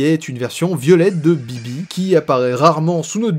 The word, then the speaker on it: BB: Mais je vais pencher, personnellement, vers celui qui est le plus logique, à savoir Balloon Boy ou BB (prononcé à l'anglaise) pour les intimes.